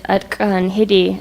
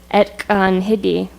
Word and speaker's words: Atkan Hidi: So the entry here is Atkan Hidi, and we'll listen to it pronounced by an elder. Can people hear that in the back? It's kind of quiet. Oh. Perfect. Okay, so in a noun entry like this, we have the Tlingit word with an English translation. There's also variants, so this word in Carcross would be pronounced Etkan Hidi.